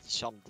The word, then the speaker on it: Charmed: Ouais, mais ça se prononce charme quand même! Non, c'est charmed. Ouais, le dé est muet. Non, le dé n'est pas muet.